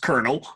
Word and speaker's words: colonel: Uh can someone explain to my 9-year-old self how c o l o n e l is pronounced kernel?